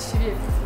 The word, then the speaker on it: щавель: Я вообще то так говорю, то сяк. Но мы в прошлый раз смотрели, что правильно говорить щавель.